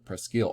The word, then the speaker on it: Presque Isle: is just the designation preskin french means almost and eel is isle isla they just pronounce it eel presque isle almost an island which